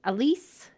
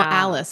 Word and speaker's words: Alis: But Alice, Alise, Alice, I think it's Alice. There's a pronunciation guide in the back of the book. Did you see that? Oh, and it's just normal Alice. It's just spelled funny.